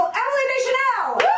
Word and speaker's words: Emily Deschanel: Bring her to the kitchen table, Emily Deschanel! Emily Deschanel! You pronounced it correctly.